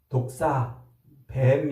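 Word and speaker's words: δόξα: 드러나는 거예요 하나님의 영광 그 하나님의 영광이라는 말은 독사뱀 말이 아니고 발음을 독사 아고 말하는데 하나님의 하나님 되심이 드러난다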